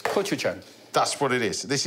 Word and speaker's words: gochujang: So you'll be able to tell us how you pronounce this. It's gochujang.